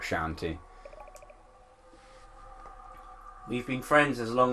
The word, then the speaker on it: Shantae: the line at least see shantae is that's how it's pronounced okay heaven pronounce we did it both wrong I just you pronouncing it like a pirate sir I just slur half my words anyway so it's just my accent is why I call it shanty we've been friends as